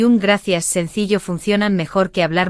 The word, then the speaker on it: gracias: La C de gracias. Suena como S en muchos países, y como Z suave en España, tipo gracias.